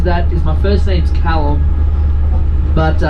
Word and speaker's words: Callum: is my first name's callum but uh anytime i tell americans my name's calum they generally come off the vehicle they're like so is that kaitlin kylem how do you say that again oh my god don't